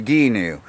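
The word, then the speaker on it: Gheenoe: pronouncing that wrong guys it's a Dinu not a canoe it's a ghee new GH e new alright but I had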